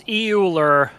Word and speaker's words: Euler: I forget how it's pronounced. It's EULER.